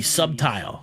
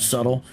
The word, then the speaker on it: subtle: He was trying to be subtile, because they have trouble pronouncing the word subtle. They'll say Paul was being subtile there, and he was well, it just read that he was being crafty.